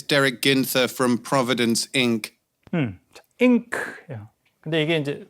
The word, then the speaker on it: Inc.: ink. 근데 이게 이제 뭐 이렇게 쓸 때 필요한 잉크가 아니라 incorporated 주식회사를 in크라고 이렇게 inc로 약어를 쓰고 이렇게 발음하는 경우도 있습니다.